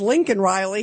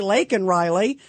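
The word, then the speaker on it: Laken Riley: her name and then he says Lincoln Riley he doesn't say lak Riley uh but then they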